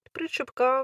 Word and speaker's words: причепка: я їх назвала дельфініус такі причепки з наголосом на и причепка мене питали вже в